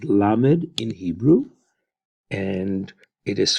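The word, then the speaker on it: lamed: that will go for us this letter is pronounced like an L and it is called la made in Hebrew and it is formed as you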